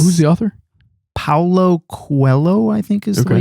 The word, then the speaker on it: Paulo Coelho: Paulo Coelho, I think is the way you pronounce it.